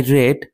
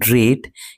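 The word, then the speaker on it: read: কিন্তু প্রেজেন্ট ফর্মে এর উচ্চারণ রিড। কিন্তু পাস্ট ফর্মে বা পাস্ট পার্টিসিপল ফর্মে এর উচ্চারণ হচ্ছে রেড।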